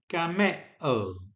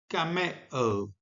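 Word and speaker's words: γαμέω: So, in my best Erasmian pronunciation, the verb is gameo, gameo, and in the contracted form, it is gamo, gamo.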